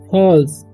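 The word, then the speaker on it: falls: अब यहाँ लिखा हुआ है इट, ठीक है, फॉल्स से पढ़ते हैं फॉल्स, ठीक है। ए डबल एल जब ही रहता है तो एक उच्चारण ओ हो जाता है, जब फॉल्स, ठीक है।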